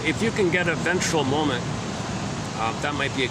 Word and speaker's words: ventral: When we reflect on the day through the lens of our nervous system, we can recognize ventral. Oh, simply rhymes with central.